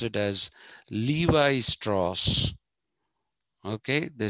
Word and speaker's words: Levi Strauss: that jeans is thanks to the americans they pronounce it as levi strauss okay they say levi strauss you must have